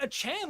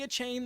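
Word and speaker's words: Achane: really don't know but achan last week the rookie that's how you say it by the way guys I know you want to say a chain that's how it's spelled it's Devin achan went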